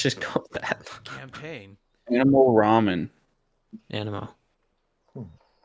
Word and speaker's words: Anemo: a fellow guy and and it's pronounced animal it just uh I've just had a a rough time dealing with it being pronounced the exact same way for most of the campaign that being the wrong one but I think that